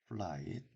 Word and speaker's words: flight: 플라잇, 플라잇. 자, 이 F 발음은 깨물면서 발음해요. 플라잇. 자, F라는 이 철자를 없애면 light, 빛이란 말이 되죠.